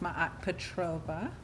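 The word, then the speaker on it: Maat Petrova: do you say your name my name is ma Petrova and I am owner of f magic a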